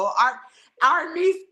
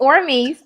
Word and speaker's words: Aormeese: Or Arse. Say her name. It's Ormes.